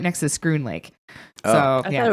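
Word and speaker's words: Schroon Lake: It's right next to Scroon Lake. Oh. So I yeah, thought it was Shroon Lake. I thought it was yeah, Shin Lake, too. it's pronounced like school.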